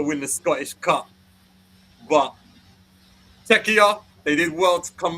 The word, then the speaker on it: Czechia: That's how Czechs want to be pronounced. Czechia. Czechia. Czechia.